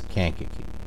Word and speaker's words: Kankakee: city of kaki snack can khaki it's kankakee I had to go